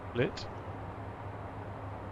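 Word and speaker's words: Sylt: It's spelled slit, but I think it's pronounced lit with a bit of a Z in German.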